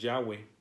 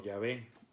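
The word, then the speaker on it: Yahweh: en el antiguo testamento que la pronunciación en teoría más correcta y más allegada a la realidad bíblica es yagüe algunos lo mencionan como llave que vienen siendo las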